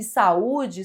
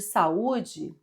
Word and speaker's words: saúde: Então, quando a gente separa as sílabas de saúde fica assim. S, u, d. Então, é uma palavra acentuada porque esse U é tônico, ou seja, forte e ele forma iato com a vogal da sílaba anterior.